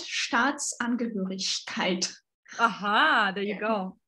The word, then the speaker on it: Staatsangehörigkeit: So, and you also need to pay attention to long and short vowels. Mm-hmm. And ich laut Staatsangehörigkeit.